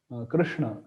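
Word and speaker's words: कृष्ण: opt for it generally uh so but actual pronunciation should be Krishna Krishna so yeah like that we can try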